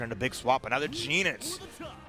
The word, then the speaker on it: Goenitz: Another Geenitz. Oh, you pronounce it Geenitz? I do. Okay, no, that's cool. I thought it was Geenitz. Thought it was Goenitz.